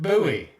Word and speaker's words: Bowie: of like the catechin bowie knife which hey guess what i found out what it's pronounced buoy and now my entire life is rude yeah yeah bowie knife eh yep as weird